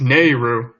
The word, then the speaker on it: Naryu: the podcast nor you na are y-you its Nehru is Alisa ku I'll die on this hell